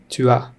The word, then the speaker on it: tu as: Tu as. S is silent here.